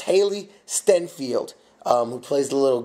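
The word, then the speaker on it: Hailee Steinfeld: Barry Pepper and I believe I believe it's pronounced Haley stenfield um who plays the little girl and no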